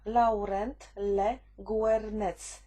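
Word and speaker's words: Laurent Le Guernec: zleca się specjalistycznym firmom Powiem tak jak się wymawia Laurent le guernetz i FF iff Czy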